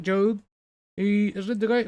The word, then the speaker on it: Job: Yeah, you pronounce it Job.